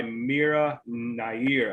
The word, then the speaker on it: Mira Nair: another one came out in 1991 directed by mira nair i believe is how you say it um